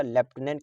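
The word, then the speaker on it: Lieutenant: पूछा जाता है तो याद रखिएगा लेफ्टिनेंट का स्पेलिंग होता है एल आई ई यू टी ई एन ए एन टी इसको क्या पढ़ते हैं लेफ्टिनेंट पढ़ते हैं क्या पढ़ते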